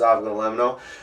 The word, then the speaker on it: avgolemono: It's pronounced avgolemono.